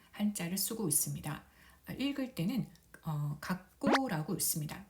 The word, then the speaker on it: 学校: 근데 이 초금도 한 박을 가지니까 네 박자로 발음을 해줘야 됩니다.